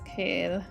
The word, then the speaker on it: Kyle: That's why they pronounce Kyle as Kale.